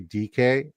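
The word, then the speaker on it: Dike: when I did it, how do you pronounce it? It's DK. Huh?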